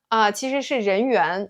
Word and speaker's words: 人缘儿: In Chinese there's a word called 人缘, or more commonly 人缘儿 — we often add that 儿 sound at the end.